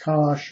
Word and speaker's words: cosh: If you're not familiar with the hyperbolic cosine, pronounced cosh, or the hyperbolic sine,